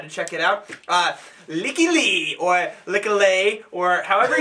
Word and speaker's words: Lykke Li: quite sure Callie melody I heard her pronounce her own name is coming Lykke Li yeah that's like that easier it's like week yeah we probably won't get